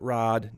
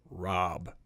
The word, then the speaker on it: Rob: It's pronounced Rob. Not Rod, not Bob, not Rock, Rob.